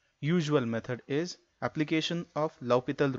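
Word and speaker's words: L'Hôpital: method is application of L'Hopital rule, or someone can pronounce it as L-Hospital rule.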